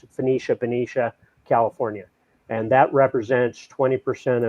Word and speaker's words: Benicia: Valero has already made the decision to shut down the refinery up in Benicia. I think that's how you pronounce it. Benicia, California.